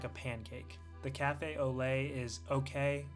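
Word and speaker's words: café au lait: I had to try the famous beignet and cafe Oola. I think that's how it's pronounced. Or it might be Ole. One second. Quick Google search. Olay. Okay. Cafe Olay.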